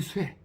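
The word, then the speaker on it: 殺: 친친지 쇠, 이때는 살이라고 읽지 않고 쇠라고 있습니다.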